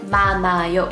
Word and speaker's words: 많아요: So the word 많아요, the hiet is not pronounced at all. it sounds like 많아요.